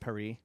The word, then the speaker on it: Paris: I mean come on it's pronounced perie yeah oh like cpri